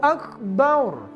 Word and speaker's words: Akbar: Jadi Allahu Akbar, dia tebal, bukan tipis, tarkik, bar.